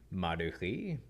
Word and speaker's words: Mardukhi: Oh, it's Mardukhi. H-I. So it's the KH. The K-H-I, yeah. But so how do you pronounce it? Technically, if I'm hanging out with family members, then it'd be like Mardukhi.